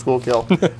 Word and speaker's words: Schuylkill: Oh, yeah, pronounced Schuylkill.